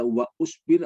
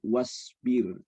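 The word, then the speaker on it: واصبر: Jadi memang tidak dibaca, bukan dibaca wa usbir atau wa asbir, tapi wasbir ya.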